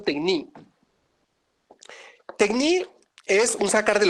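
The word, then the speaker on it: τέχνη: Algunos lo pronuncian tecní, yo lo pronuncio tecní.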